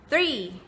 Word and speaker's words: three: ะ จ ะ อ่ า น ว่ า three แ บ บ นี้ น ะ ค ะ